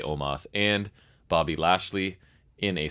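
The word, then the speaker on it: Omos: aj styles omas omas i don't know how to say they say oma they do say omas and bobby lashley in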